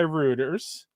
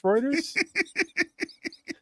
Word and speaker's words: Reuters: as initially reported by Ruters." Uh, or Reuters. How do you say that? Rooters. Reuters. It's Reuters.